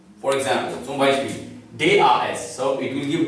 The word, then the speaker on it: das: For example, zum Beispiel, D-A-S. So it will give D sound. In German, A is pronounced as A. So it is das.